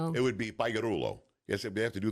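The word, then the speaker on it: Pagliarulo: In English, it's pagorulo. Pagoro. But in Italian, you don't pronounce the G. Gi. In Italian, it's like a Y cuz you're Italiano. It would be Perulo.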